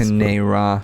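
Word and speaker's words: Kane-Ra: Got that Kane Ra or Kane Ra. I still don't know how it's Kane Ra. pronounced. Kanera.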